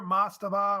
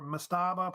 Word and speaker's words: mastaba: What were mastaba or mastaba, pronounced either way, I think.